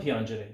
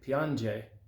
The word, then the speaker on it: piange: the to form, non piangere, don't cry. A little bit about the pronunciation. Io piango, tu piangi, lui lei piange. Remember that G-O becomes go, and the G-I and G-E becomes G and J.